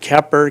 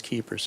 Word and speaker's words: Keepers: I've heard Keer, keeper, cooper. Keepers. It is Keepers.